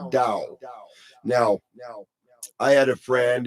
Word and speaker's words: Tao: So Tao would be pronounced Dao.